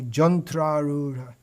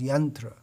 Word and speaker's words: yantra: bengal or orissa and you say jantra and then you explain this body is is just like a jantra but the the standard pronunciation is yantra and kotriya people you'll